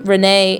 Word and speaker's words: René: And you would have an extra E here if this was a female name, René in French, or René if you want to make sure that you pronounce it correctly.